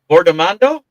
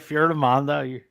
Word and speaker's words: Fiordimondo: Fuji formando. Did I say it right or close? Close. Close enough. You say it for me then. You're right. Famondo.